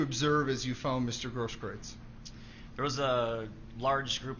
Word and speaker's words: Grosskreutz: I'm not sure how you pronounce his last name, Gage. I believe it's Grosskreutz. Grosskreutz.